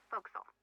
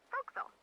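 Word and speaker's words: forecastle: forward deck of a sailing ship, but it's pronounced folks. Why is that? Try pronouncing it like an English sailor with no formal education. Faux castle folks.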